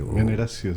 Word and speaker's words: Veneratio: Como veneración, ¿verdad?